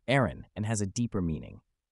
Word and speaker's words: Aeryn: more welcome and representative identity the new name Aaron OS is pronounced Aaron and has a deeper meaning air from Latin